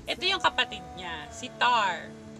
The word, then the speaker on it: Tharn: Tapos ito yung kapatid niya, si Tar. Pag binibigkas nila sa scene yung pangalan ni Tar, walang lalabas na R.